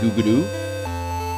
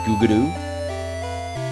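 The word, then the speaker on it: グーグル: They say Google in the word Google in Japanese. In Japanese, it's really hard. It's a really hard word for them to say, so they say it Guguru. They pronounce it Guguru, and it's like this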